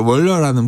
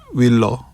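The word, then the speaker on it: Waller: 어제 이런 일이 있어 월화라는 분이 있어요 윌러 윌러가 정확한 발음이겠네요 연준 가장 매파적인 분이에요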